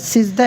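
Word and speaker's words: سجدہ: ঠিক আছে, তো সিজদা, এটাতে দুটোটা সিজদা বা সাজদা উভয়টা বলা যায়।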